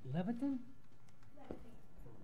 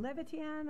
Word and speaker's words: Levitan: Glenn Leviton? Close enough, huh? Rhymes with Floristan. My name is Levitan.